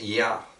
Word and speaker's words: Ya: So that's Ya. You spell it I-A or Y-A. That's Ya. And when you go up to the top, there's a letter there that looks like a C.